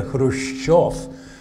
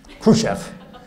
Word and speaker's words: Khrushchev: he pronounced the word Khrushchev he talked about Cham and Khrushchev and that has four mistakes in at first the accent he had it on the first syllable it should have been on the second